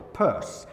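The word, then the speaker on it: Peirce: want to pronounce as Pierce it's actually pronounced I'm assured the purse now how you get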